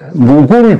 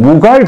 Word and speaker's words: 무굴: 오늘은 주제가 무굴 제국과 타지마할입니다. 여러분 제가 학교에 다닐 때는 무갈 제국이라고 배웠는데 요새 발음을 무굴 제국이라고 합니다.